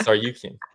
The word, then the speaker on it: Tsarukyan: No, it's pronounced Tsarukyan.